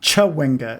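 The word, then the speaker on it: Chwinga: Um, and it's Chawinga. It's It's got like a full page on how to pronounce the things in the game.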